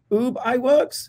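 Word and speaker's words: Ub Iwerks: don't know how to say his name ub ub i works oh boob i worked right mickey mouse yeah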